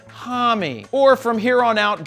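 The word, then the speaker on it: Homme: lead singer Josh Tommy yes it's pronounced Tommy or from here on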